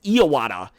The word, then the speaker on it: Iwata: But also, if you guys didn't know, I was pronouncing Iwata wrong. His name is Iwata.